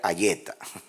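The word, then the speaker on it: היתה: Sería Ayeza o Ayeta. En castellano sería Ayeta. Es que la TH en inglés, como thank you.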